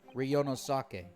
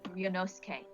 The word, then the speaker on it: Ryunosuke: Ryo Sake, I'll see you in the courtroom. Yes. Thanks, Kazuma. Oh. Okay, my Japanese pronunciation is saying that his name is actually Ryunosuke.